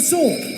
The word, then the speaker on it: sword: Again, no W. Not sword. Sword. It's sword. Sword only sword. Perfect. Did you Did you know that? Did you know that in this word the W um is silent?